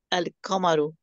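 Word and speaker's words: القمر: The moon is pronounced al-kamaru.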